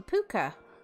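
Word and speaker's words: pwca: the category called the puka um spelled with a w uh to replace the U um because that's quite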